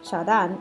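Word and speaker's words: Qiaodan: and his name Jordan which is pronounced cha dong and Chinese without his permission another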